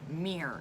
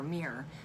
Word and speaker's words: mirror: So like I say it as a one-syllable word, mirror, M-E-E-R, mirror. But I think most people say mirror.